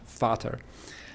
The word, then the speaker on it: Vater: And of course, the V in German, by the way, is pronounced like an F in English, Vater.